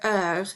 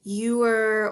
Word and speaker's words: heure: one that's frequently mispronounced it's pronounced uh kind of like the word her only without the h sound some people pronounce it you are or horror or they they pronounce